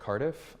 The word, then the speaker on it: Cardiff: to kill so okay my name is Cardiff I am the docent program manager at the